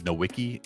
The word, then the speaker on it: Nowicki: nickname is Wix because my last name is nowiki and not a lot of people can pronounce it soever since high school I've had